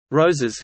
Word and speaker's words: Roses: Roses, Catalan pronunciation, Ars, Spanish, Roses, Spanish pronunciation, Roses, is